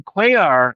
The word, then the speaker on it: Cuellar: So then Cuellar, am I pronouncing his name right?